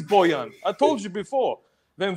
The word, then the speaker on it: Bojan: it's just hard for people to pronounce it as a silent J and also when you like football you have to be good so they were like oh no it is Boyan I told you before